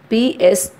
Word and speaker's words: pseudoscience: The spelling of the word is Pseudoscience, but here P is silent. So we are reading this as a pseudoscience.